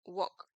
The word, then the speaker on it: walk: es el verbo caminar ese no se pronuncia Walk se pronuncia Walk es decir que esta l es silenciosa listo es muda entonces decimos entonces no